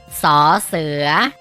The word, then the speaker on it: ส เสือ: ที่ น้อง ๆ มอง เห็น อยู่ นี่ คือ สอ เสือ สอ เสือ สอ เสือ มี ส่วน เสียง ของ พยัญชนะ ออก เสียง ว่า ศ.